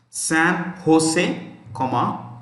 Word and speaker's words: San Jose: See, this J is pronounced with an H in Spanish. San Jose, California, US.